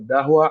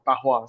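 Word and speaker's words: Dahua: Nah jadi ee sebelum dimulai biasanya tuh orang suka salah sebut biasanya ada Dahwa, Ajua, Alhua you name it banyak. Eh, tapi eh the right pronunciation-nya adalah eh Tahwa. Sebenarnya D-nya itu dibaca T.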